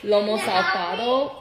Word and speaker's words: Lomo saltado: so today we're making Lomo saltado when I say it really fast it comes out all butchered but when I take the time to say it slowly Lomo salsado it sounds a lot better this is robot we're